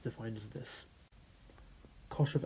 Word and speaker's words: cosh: This is shine, so shine of x. This is cosh of x, and this is either pronounced tanh of x or fan of x.